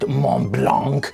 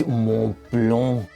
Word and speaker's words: Montblanc: The M blank digital paper. It is not Mlanc. It is Mlong. You peasant.